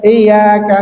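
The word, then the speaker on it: إياك: Kemudian berikutnya ayat kelima ini biasanya ketika tasdidnya ya kurang begitu ditekan iya atau berlebihan secara penekanan ya. Jadi bukan iyaka na'budu wa iyaka nastain atau iyaka bukan bukan seperti itu juga. Cukup ada penekanan sedikit ya.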